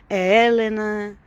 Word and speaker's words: Helena: Helena aqui, a pronúncia é diferente, é Helena, e não tem H. Então, eu prefiro o meu Helena português.